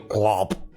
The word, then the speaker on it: Glorb: I would like you to meet my husband, Prince Glorb. It's not quite the right pronunciation, but I love that they're trying. Oh yeah, it's actually Glorb.